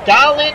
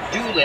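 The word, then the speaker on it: Dahlen: Is it Dahlin or Doolin? I don't think it's Doolin. I think it is Dahlin.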